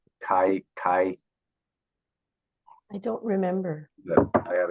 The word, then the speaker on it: Kai: Kai, his name is Kai.